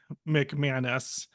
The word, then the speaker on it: McManus: myself I say my name as G mcmanis and exactly for the reason or for one